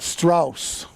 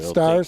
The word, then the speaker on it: Strauss: We've been pronouncing that. Strauss. Okay, not Stars. Strauss.